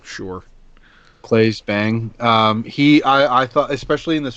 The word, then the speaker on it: Claes Bang: I don't know how to pronounce his name. Claes Bang. Clay Bang, sure. Claes Bang.